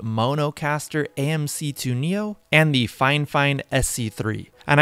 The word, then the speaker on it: Fifine: fine fine sc3 and I know it might sound like I'm saying the word fine fine weird but they have actually reached out to me before and told me that they actually pronounce their company name like that fine fine so anyways these